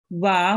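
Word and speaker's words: وَ: Do you want to pronounce this letter? Wa. Wa, well done. Make sure not to prolong it for too long. Just for 1 second.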